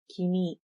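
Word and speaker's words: 君: This pronoun is pronounced as kimi and used informally and by both genders.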